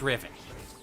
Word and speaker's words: Riven: Anything that ends with that is always even. So it's Riven.